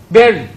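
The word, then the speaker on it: bury: But this lesson will have taught you that B-U-R-Y, that letter U-R is not any other sound but what? E.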